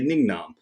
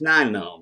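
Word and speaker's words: Nien Nunb: i pronounced things wrong i still say ningnam although i know it's nine num or something like that but as a kid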